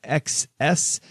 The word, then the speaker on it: XS: Note 9 or iPhone XS I think they want that pronounced tennis and still have an